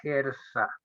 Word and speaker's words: Kersa: llama Kersa, con K, K-E-R-S-A, y está en la costa, Kersa. Y en aquel tiempo la K se pronunciaba como G, entonces más bien se llama Gersa.